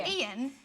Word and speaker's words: Ian: call Ian, like, someone called Ian, they call Ian. Ian. And we're like, no, it's 2 syllables. Ian. We're saying 2 syllables.